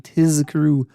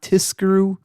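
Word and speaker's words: תִזְכְּרוּ: He says you got to make sure that you pronounce that Z sound, that Zayin, Tizkru, not Tiskru.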